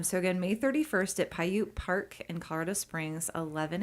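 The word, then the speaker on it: Paiute: It's Pyute Park, Pi-U. I'm spelling that, you know, out saying it phonetically. Pyute Park at 402 Holly Drive in Colorado Springs.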